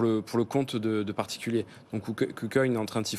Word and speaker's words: KuCoin: Non, c'était sur la prononciation. Je demandais confirmation. La Joker. On dit KuCoin. KuCoin.